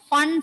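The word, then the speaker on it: Pfund: It is pronounced as Fun. Okay, P is silent there. Lyman, Balmer, Paschen, bracket and Fun series.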